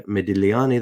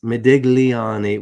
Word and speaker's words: Modigliani: It's, I guess, Americanized to say it like that, Modigliani. But it is Modigliani. And I'm probably not even pronouncing that right, but I know that the G is silent, and so that's what we'll go with.